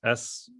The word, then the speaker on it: Synthesia: It's Synthesia.